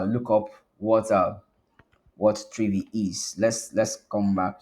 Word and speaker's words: Trivy: the readme okay um 3v pronounced like three trigger V pronounced like Envy the comprehensive security scanner